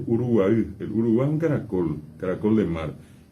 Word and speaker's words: Uruguay: Caribe hasta el Uruguay, que bien pronunciado todavía es Uruguay.